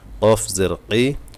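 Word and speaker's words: ق: জেরই আইন জেরই আইন ইয়া জেরই আইনটা বার উচ্চারণ করবেন কারণ আইন আমাদের সাধারণত হয় না। আইন কফ এবং হা এ তিনটা অক্ষর।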